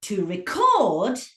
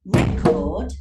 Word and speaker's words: record: But to record, so record, okay, so you've got to record is a noun, a record of something. But if I change the stress and put it on the second syllable, it becomes a verb.